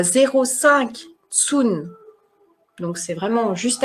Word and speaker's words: cun: Tsun, c'est la mesure, ça s'écrit CUN.